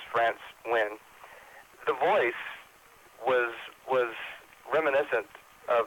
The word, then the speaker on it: Nguyen: I believe that NGU, Vietnamese, is pronounced like a W. So I believe it's France Nguyen.